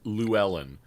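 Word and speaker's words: Llewelyn: he was alive so yeah terrence said it's pronounced lou ellen and i okay i think he's right desmond lewellen yes so and then uh ben uh with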